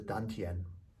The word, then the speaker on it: dantian: In Chinese terms, that's the dantian. D-A-N-T-I-E-N. Dantian, sometimes pronounced with a T, but a dantian.